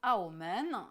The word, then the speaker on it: Aomen: Et donc il s'agit de Macao qui se dit Aomen, qui est très très différent donc de la façon dont on le prononce en européen, et puis Hong Kong